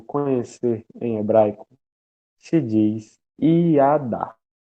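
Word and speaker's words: ידע: O verbo conhecer em hebraico se diz iadá. Iadá se escreve assim: Y-A-D-A-H. H mudo.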